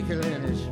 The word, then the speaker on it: Kalinich: Stevie Kalinich rhymes with spinach, where the winter wind is home and then the winter one is blue.